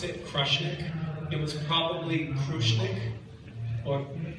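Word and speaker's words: Krushnic: Um I so we we pronounce it crushnik.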